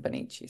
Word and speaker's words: Bonici: But the next generation, we went back to the original pronunciation, Bonici.